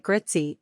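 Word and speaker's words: Grüezi: to the English High phonetically this sounds like gritzy or gr ET C you can also try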